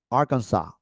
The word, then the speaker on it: Arkansas: is Right Arizona uhhuh Arkansas listen and repeat don't watch that Arkansas yes Arkansas Aransas California oh interesting